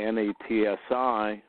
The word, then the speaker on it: Nazi: engineered as fascists or Nazis and Saints the word Nazi phonetically na TSI is true then what